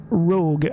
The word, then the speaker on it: ROG: I think it was Rogue. So I call it Rogue. I'm not sure how you're supposed to pronounce it, but people in France say Rogue. I hear Pete Dorr say ROG, but I don't know, it sounds strange to me. So that's how I pronounce this brand, Rogue.